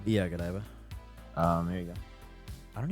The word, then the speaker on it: Godiva: Godiva? Yeah, Godiva.